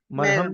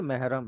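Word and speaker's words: محرم: हयात का मरहम मेहरम मरहम नहीं है ये मेहरम है मेहरम हां वो मरहम वो अलग चीज होती है वो लगाने वाली जो चोट पे लगाई जाती है।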